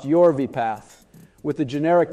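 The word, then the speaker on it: Yorvipath: drug exclusivity in the US for yv paath pronounced yv paath with the generic name palop pegar Riptide for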